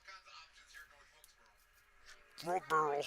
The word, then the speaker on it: North Wilkesboro: There's no L in borough. It's not borough. North Wilkesboro.